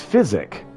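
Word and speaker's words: Physick: It's physic, but Psychic is how I always end up pronouncing that one.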